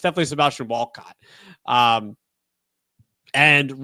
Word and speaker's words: Walcott: I think that's how you say it's not Valcott because I that mean that would mean that it's he's Yeah, I don't know. But it's definitely Sebastian Walcott.